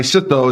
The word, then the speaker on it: sitto: grandma salami sandwiches so my sitto my sitto is how they say it in Lebanese my sitto made the